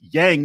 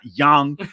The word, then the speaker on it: Yang: it's not Rydia and it's Yang not young and like everybody's name